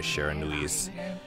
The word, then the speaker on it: Shiranui: The warrior, Nagi, attempted many times to challenge the wolf, but his attempts were thwarted by Shiranui's swift movements.